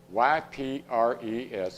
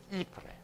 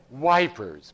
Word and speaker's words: Ypres: So they're not going to say Ypres, Ypres. They said wipers because that's the way it's spelled, Y-P-R-E-S.